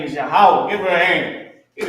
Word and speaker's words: Yahweh: God's name is Yahweh. Give her a hand. Give the sister a hand. Man, she about to know more than her pastor. Trust me. God's name is Yahweh.